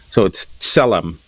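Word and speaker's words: צלם: So sade is pronounced like a TS. Mm-hmm. So it's selam.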